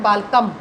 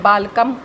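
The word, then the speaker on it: बालकम्: बालकम, बालकम, बालकौ, बालकान। बालकान। अब यहाँ पर भी हलंत है, इसका भी उच्चारण आधा आधा माना जाएगा। बालकान, बालकान नहीं होगा, बालकान। यहाँ पे बाल कम नहीं होगा, बालकम।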